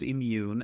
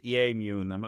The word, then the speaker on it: Eammun: But of course, everybody's trying to pronounce it EA immune. No, it's just immune. It's just the word immune.